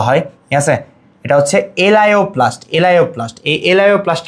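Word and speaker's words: elaioplast: এটারে লিপিডোপ্লাস্ট বলা হয় ঠিক আছে এটা হচ্ছে এলাইওপ্লাস্ট এলাইওপ্লাস্ট এলাওপ্লাস্ট কি তাহলে এটা হচ্ছে চর্বি এবং তেলকে সঞ্চয় করে এলাপ্লাস্ট কি করবে?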